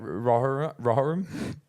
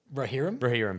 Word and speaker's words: Rohirrim: Rohirrim? Rohirrim, sorry.